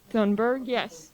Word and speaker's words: Thunberg: Thunberg.